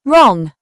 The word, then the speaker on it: wrong: The WR phonics sound typically makes the R sound with the W being silent. It often appears at the beginning of words. Examples: right, wrist, wrestle, wrong, rap.